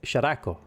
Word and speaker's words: Sharako: It's 3 syllables, Sharako. The stress is on the R, so it becomes Sharako.